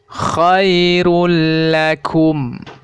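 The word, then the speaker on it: خير لكم: Contohnya seperti ini ya cara membacanya adalah for Khairul alaikum khoirullakum ya khoirullakum Khairul rule lakum jadi dhommatain bertemu dengan huruf lam maka harus dibaca tanpa mendengung ya contoh berikutnya yaitu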